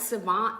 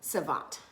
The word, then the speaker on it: Civant: I swear these people really y'all need to write Savant and tell them that they need me as